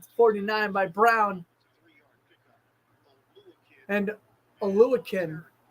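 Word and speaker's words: Oluokun: And Oluwakin. I always pronounce it Olkun. It's Oluwakin.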